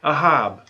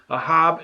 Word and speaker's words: אהב: you put them together aleph hey bait you get ahab and so what is